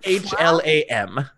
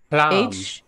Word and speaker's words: Hlam: H-L-A-M. Hlam. H-L-A-M. A-M. So the H is silent. Yeah. Well, ish.